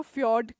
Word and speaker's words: fjord: अब देखिए फ्यॉर्ड क्या है, फ्यॉर्ड ठीक है FJORD होता है पर इसको फ्यॉर्ड करके प्रोनाउंस करते हैं।